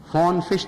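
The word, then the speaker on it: von Frisch: نام فون فش تھا، VONFISCH، فون فش تلفظ ہے غالباً اس کا۔ بہرحال فون فش نے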